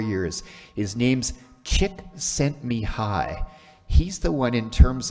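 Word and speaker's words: Csikszentmihalyi: Some of you may have heard of this fellow before, and I can actually pronounce his name. He comes to Calgary every 4 years. His name's Chick Sent Me High.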